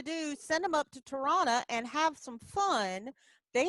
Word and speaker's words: Toronto: that everywhere and uh toronto do you want me to say toronto that's not how they say it they say toronto they say toronto toronto all kind of merges stop stop being educational